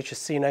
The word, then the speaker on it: Chasino: It's actually pronounced Chasino, but I say Chasino because I anglicize it for people, but you know, by the by.